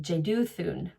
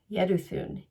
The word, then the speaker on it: Jeduthun: So in my English pronunciation, I would say Jedu, but you do not pronounce the J. So it's yed. Yedun Yeduun Yeduun and the emphasis is on the thoon.